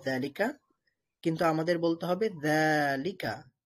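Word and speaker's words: ذٰلك: তেমনি ভাবে এটা লেখা আছে যালিকা, কিন্তু আমাদের বলতে হবে যালিকা, যালিকা। যা এর মধ্যে এক আলিফ টান দিয়ে পড়তে হবে।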